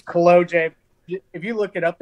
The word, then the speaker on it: Kolodziej: So the good part is after trying to say Kolodziej, and everything you've probably heard your entire life, you said, hey, it rhymes, OJ Kolodziej.